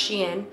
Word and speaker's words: SHEIN: just so everyone knows it's pronounced she in not sheen not shane not shine she in i know that the